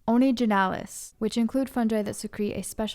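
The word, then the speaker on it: Onygenales: They are found in an order that I believe is pronounced Onigenalis, which include fungi that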